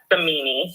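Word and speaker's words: Simoni: So technically Italian it is, but it is pronounced samini.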